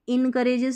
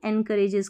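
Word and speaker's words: encourages: discipline अनुशासन एनकरेजेस एनकरेजेस इसको इनकरेजेस नहीं एनकरेजेस करके पढ़ देना कि आगे बढ़ाता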